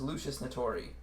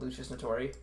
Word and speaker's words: Lusus Naturae: frightening beast known as lucius natori all right i don't actually know how to pronounce that but that's how they pronounce it in the ruby song called lucious notori people i've given you